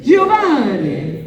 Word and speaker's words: Giovanni: It's pronounced Giovanni. Say it with me, guys. 1, 2, 3. Giovanni.